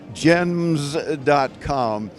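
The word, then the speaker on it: Gemns.com: right you no no I had to put the n in there so it was unique and it is and it's silent the N is silent okay we have to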